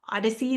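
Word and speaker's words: OHDSI: Um, there's this interdisciplinary community called Odyssey, that's how you pronounce that acronym.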